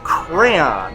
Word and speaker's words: crayon: And if you look at I believe one of our murals actually says the pronunciation is cray.